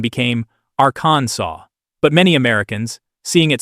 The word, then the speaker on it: Arkansas: And because French has that quirky rule where the final S is silent, the correct pronunciation became Aransaw.